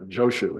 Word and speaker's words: Joshu: And here he's using the Japanese pronunciation of these Chinese names. So he says Nansen and Joshu instead of Nanchuan and Jiaozhou, but it's the same people.